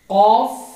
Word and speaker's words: قاف: Letters نیم: قاف، قاف، کاف، قاف، کاف. مخرج number 5. Letter qaf is pronounced by raising the back end of the tongue to touch the soft plate.